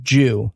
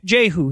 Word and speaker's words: Jehu: the story of jehu i actually think it's pronounced jew no no no they're all jehu he's the the king